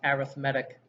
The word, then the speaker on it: arithmetic: with four vocabulary phrases this word here is being used as an adjective so it's pronounced arithmetic that's common in the